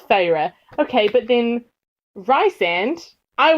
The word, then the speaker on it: Feyre: That's why I remember that was how it's pronounced. Also this, so it's Feyre.